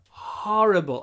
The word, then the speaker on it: horrible: easy one oops horrible don't say wh horrible open your mouth horrible horrible we talk